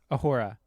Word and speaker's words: Uhura: Uhura.